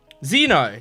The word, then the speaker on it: Xeno: starts with zed not Zed X but it's pronounced Zed uh what what what is it what's his name Zeno that's what it is so we have Zeno